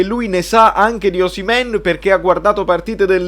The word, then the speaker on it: Osimhen: Belotti, è arrivato Osimhen, non si dice Oshimen, pare si dica Osimhen, quindi dobbiamo capire che giocatore è.